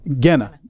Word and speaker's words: Gehenna: as hell is actually, and I'm going to mispronounce it and y'all will fix it, Gehenna. Gehenna. See, I told you they'd fix it.